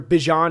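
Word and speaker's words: Bijan: I'm all in on on Bjan Robinson this year? Bjon is how you pronounce his name.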